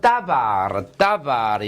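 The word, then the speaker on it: דבר: 그런데 말씀은 따바르, 요거 따바르라고 읽어요. 따바르.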